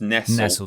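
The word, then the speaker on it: Nestlé: It's pronounced Nestle, but sorry.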